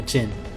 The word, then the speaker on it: Djinn: Yes, the Arabian story Aladdin is actually a story including a Djinn, not a genie. Like most instances of DJ, it is pronounced with a very soft or silent D.